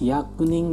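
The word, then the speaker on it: 百人: Orang hyaku itu kadang dibaca byaku, kadang dibaca hyaku. Orang kadang dibaca nin, kadang juga dibaca jin. Kira-kira untuk kanji ini cara bacanya gimana minasan? Hai, tada si desu. Hyakunin desu ne.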